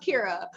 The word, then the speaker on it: Kyra: we got kyra so it's actually pronounced kira oh my gosh that